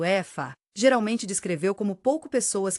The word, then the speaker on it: Aoife: Outra história encantadora centrada nos espíritos travessos e brincalhões conhecidos como Aoife, pronunciado Efa, geralmente descreveu como pouco pessoas que habitam as florestas e os campos.